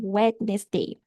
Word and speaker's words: Wednesday: Wednesday. A gente não fala o som do D, tá?